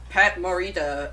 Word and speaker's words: Pat Morita: the Jackie Chan doing it was um oh Pat Morita or how you say his name yeah you